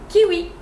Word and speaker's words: kiwi: Kiwi, kiwi. So W. Second way to pronounce it is as a V, like wagon.